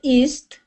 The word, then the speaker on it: east: I just wrote the word feast because it sounds like east.